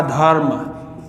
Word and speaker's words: धर्म: तो इसमें इस रेप का उच्चारण संबंधित वर्ण से पहले हो जाएगा। तो इसको पढ़ने में हम कैसे पढ़ेंगे? ध के बाद आ जाएगा आधा रे, उसके बाद क्या हो जाएगा? में।